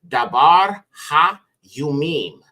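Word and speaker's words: דברי הימים: book is Chronicles okay and Chronicles would be pronounced daar Yim which means words or matters of the days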